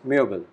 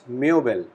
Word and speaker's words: Möbel: The word is das Möbel.